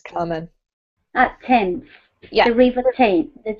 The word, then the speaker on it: Thames: So tames, whistle, and walked. Good. In walked, the T sound is actually weirdly the D here, right? Mm-hmm. Well done. This is pronounced Thames, Carmen. Thames.